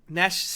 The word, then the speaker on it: Gnash: Oh, Gnash. The G is silent.